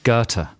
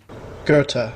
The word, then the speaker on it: Goethe: a famous german writer i know this g-o-e-t-h-e garter right let's have the real pronunciation gerta yeah gerta yes because i've read a lot